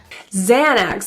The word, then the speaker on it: Xanax: forget to take your Xanax this morning Xanax the X at the beginning of Xanax is pronounced as a zed sound the second X is pronounced as the a KS sounds let's listen did you